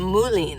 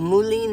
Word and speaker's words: mullein: I think that's how you pronounce it, Mullein. I know the plant very well because it was all over the place in Flagstaff. It's called mullein or mullein. Yeah, it's got to be mullein.